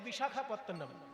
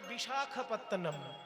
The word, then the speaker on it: বিশাখাপত্তনম: বিশাখাপত্তনম, কথাটা হচ্ছে বিশাখ, বিশাখা নয়। বিশাখ আর বিশাখা আলাদা জিনিস।